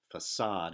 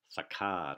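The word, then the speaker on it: façade: from the French but that tells us that the C is pronounced like an S so its facade and not saccade or something like that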